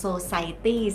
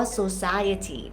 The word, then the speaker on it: society: สน ใจ ออก เสียง หลาย คน ออก เสียง ผิด เป็น Society ซึ่ง ว่า จริง ๆ ต้อง ออก ว่า ซู่ ซ่า เวที นะ คะ is not